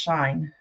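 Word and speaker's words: Shein: buy shine very often It's s s h i n I'm told it's called pronounced shine um you can get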